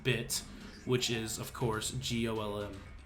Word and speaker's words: GOLM: which is of course golm much to a surprise this ends up being pronounced like Gollum anyway on a side